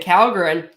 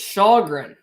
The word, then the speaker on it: Källgren: Oh, so you actually pronounce, I've been saying Källgren, it's Källgren.